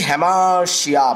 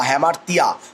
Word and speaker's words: hamartia: এবার যে হ্যামারশিয়া বা হ্যামারতিয়া, অনেকে হামারতিয়া উচ্চারণ করে, HAMARTIA, এটা হচ্ছে অ্যারিস্টটল পোয়েটিক্সে বলছেন এরার অফ জাজমেন্ট।